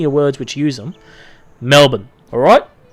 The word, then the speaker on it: Melbourne: think Melvin oh sweet Melvin that's how you pronounce it Melbourne none of this meal it's not male born this is a thing too about trailing action